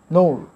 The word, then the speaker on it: know: নৌর, এখানে কে এর উচ্চারণ হবে না, তার নো মানে জানা।